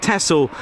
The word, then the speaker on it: Texel: over the North Sea, near the island of Texel, Netherlands. Thanks, Arjen, for the pronunciation.